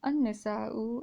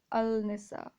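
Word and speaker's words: النساء: directly to this noon so we have an isa and not al-nisa okay here in pakistan a lot of people say al-nisa al-nisa no it's not al-nisa it's a nisa okay anissa similarly anisa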